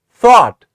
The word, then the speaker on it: thought: word o u g h but this is pronounced as thought yes repeat after me it is thought and what sound are you hearing is it